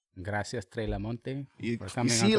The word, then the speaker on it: Treh LaMonte: My name is not pronounced Treh LaMonte. Yeah. Only way you're getting obliged is if you're Spanish, because I understand. You know what I'm saying? But for the most people, it's Treh LaMonte.